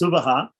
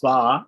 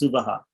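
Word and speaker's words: सुवः: The Japa, and specifically it's pronounced Suvaha, in other branches of the Veda, even other Shukla Yajurveda or Rig Veda, the third Vyahriti is pronounced Sva and not Suvaha. But in Krishna Yajurveda, it's pronounced Suvaha.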